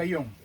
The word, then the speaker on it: Aón: Se escribe Aón, se pronuncia Ayón.